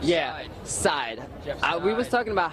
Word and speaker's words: Seid: he only said yeah side we was talking about how to pronounce his last name right so is Jeff Jeff side side okay now with that out